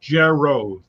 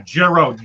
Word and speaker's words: Giro: My last name is pronounced Jero. Giro, like Al Giro? Yeah, Jero, like a J sound. Like Al Giro. Okay. Is it Giro or Gero? Jero.